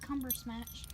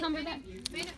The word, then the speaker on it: Cumberbatch: Benedict Cumbersmatch. How do you say his last name? Cumberbatch.